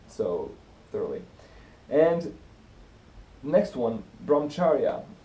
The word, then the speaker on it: brahmacharya: thoroughly and next one bromcharia brahmacharya I think it's pronounced and in the very